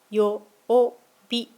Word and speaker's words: 曜日: 曜日はよおびと発音します。